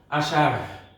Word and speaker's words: আষাঢ়: এই রয়ের একটি উচ্চারণ আছে, এটিকে মহাপ্রাণ বলা হয়। এই র উচ্চারণ করতে হলে একটি হ যুক্ত করতে হবে, আষাঢ়, আষাঢ় হ উচ্চারণ করতে হবে।